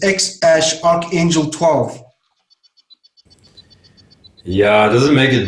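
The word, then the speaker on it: X Æ A-12: You know that He says this, so it's just the letter X, and AE is pronounced Ash. So it's X Ash Archangel 12.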